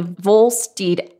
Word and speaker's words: Volstead: Yeah, pronounced Volstead, but yeah, he was Volstead.